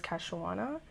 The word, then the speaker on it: Kei-shawonna: Okay, so basically, my name, I always told people was Kei-shawonna, but when you're in elementary school, for some reason, kids have a very hard time pronouncing that.